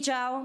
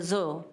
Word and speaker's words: Zhao: name is Zhao my name is right here because a lot of times you pronounce it zoo I am a government